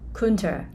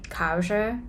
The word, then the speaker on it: culture: you know for example I used to run out this word Kunta so if I heard from other people say culture I won't be able to